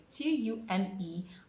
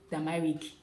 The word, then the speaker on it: turmeric: The number one word here is Turmeric. How is that pronounced? Basically, I know you say turmeric, turmeric. It is not turmeric, it is turmeric.